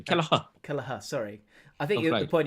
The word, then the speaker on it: Kelleher: Well, I mean, Kelleher. Get your right. I know the goalie. Yeah. You've got to get your Irish pronunciation. Kelleher.